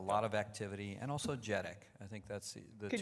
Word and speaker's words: JEDEC: think there's a lot of activity, and also JEDEC. I think that's the Could two places. Could you just spell that out?